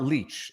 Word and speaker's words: Lich: examined deposed questioned Tamara Lich uh camera leech by the way that's that's Tamara Leach is now the official pronunciation because it's her pronunciation she